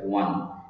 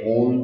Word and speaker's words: won: Tense, তার মানে উইনের first tense কি হবে, ওয়ান, WON, ওয়ান। আমরা অনেকেই এটাকে ওন করি, আসলে ওন উচ্চারণটা ভুল আমাদের, সেক্ষেত্রে আমরা উচ্চারণটা করবো ওয়ান, WON, ওকে।